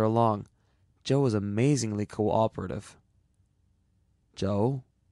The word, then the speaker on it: Chou: "Joe?" "Spell it Chou if you want to be exotic.